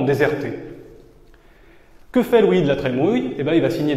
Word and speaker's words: La Trémoille: qui s'appelle Louis de la Trémouille. Ça s'écrit la Trémoille, mais ça se prononce la Trémouille.